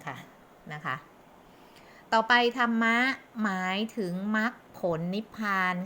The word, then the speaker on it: ธรรม: นั้น อัน ประเสริฐ ซึ่ง ทำ นั้น อัน ประเสริฐ ธรรม ใน ที่ นี้ หมาย ถึง มรรคผล และ นิพพาน ค่ะ ทำ หรือ คน ไทย ช่อง อ่าน ว่า ธรรมะ ได้ นะ คะ ต่อ ไป นะ คะ ธรรมะ